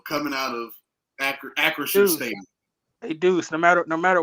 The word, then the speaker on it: Acrisure: But at the end of the day, you had an L coming out of Acrisure Stadium.